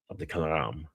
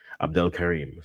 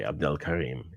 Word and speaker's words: Abdelkarim: coming off for Hamza of the Karam. And if I said that name wrong, I do apologize, but in the game is hot. Egypt. Abdelkarim. Sorry, Abdelkarim is the name.